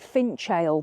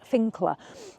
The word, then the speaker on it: Finchale: finer Abbey touring Park it's actually spelled it looks like finchale but it's pronounced finer um and it's here